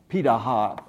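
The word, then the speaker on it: Pirahã: Amazon basin and they're there they're called a PETA ha it's spelled para ha but it's pronounced PETA ha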